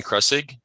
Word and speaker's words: Kressig: could you please State your full name and spell it for the record yes my name is kressig spelled a-a-r-o-n cresig k-r-e-s-s-i-g and what is your